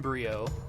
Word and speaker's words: Brio: horotec so I'd be suicidal - yeah in Brio because that's how you say his name because he is dr. nitrous Brio he becomes a good guy in the second